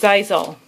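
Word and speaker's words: Xyzal: So the Zysol, this is how it's pronounced, Zysol. because I saw the commercial on TV. It's an owl, and he says, "Be wise all, get Zizal."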